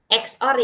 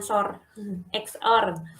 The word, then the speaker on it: xor: eksklusif or disingkat sebagai xor ini bacanya xore Ya bukan short ini bernilai benar jika